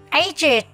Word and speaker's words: aged: Đuôi ED trong các tính từ sau đây sẽ được phát âm là IT.